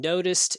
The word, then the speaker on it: noticed: the dog sound and noticed is the taco sound and the last one